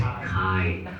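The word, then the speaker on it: χ: This one is called no, it's pronounced Greek as chi.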